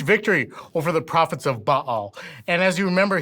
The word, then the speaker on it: Baal: I got to stop just so you know baale is the most mispronounced word in the Bible it's actually pronounced